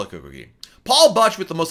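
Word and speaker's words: CocoCay: of you thank you is it pronounced key or K Eric wants to know so I always call the coke okay and then earlier this year when perfect day at cocoa whatever opened up Royal Caribbean had a meeting with myself and other members the press and I said you know the Bohemians pronounced at CoCo Key and so we're gonna call it coke okay so i call it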